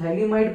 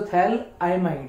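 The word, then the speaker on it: phthalimide: इसको हम थैलीमाइड पढ़ते, थैलीमाइड, बट एक्चुअल प्रोनाउंसिएशन उसका थैल आइमाइड है।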